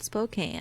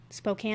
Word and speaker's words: Spokane: Good old Spokane. Which I learned was can, because it looks like cane.